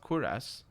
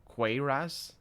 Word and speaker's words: cuirass: Smith yourself well I know I know it's pronounced queer ass cuirass hmm the janitor do you have a daughter